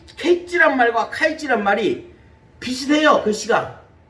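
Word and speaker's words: קץ: 그런데 끝이란 말, 종말이란 말, 끝이란 말, 종말이란 말이 히브리어로 캐치란 말입니다.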